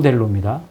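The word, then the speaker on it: θέλω: 이건 요 델로입니다. 그래서 대가 아니라 th 발음이 조금 나요. 델로 이거를 그냥 한국말로 쓰기가 그렇잖아. 셀로라고 쓰기도 그렇고.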